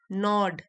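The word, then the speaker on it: gnaw: नॉड, जी silent है, कुरेदना, बार बार तंग करना।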